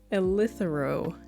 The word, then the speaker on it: eleuthero: It's called eleuthero tea. It's eleuthero root tea, but it's a good tea.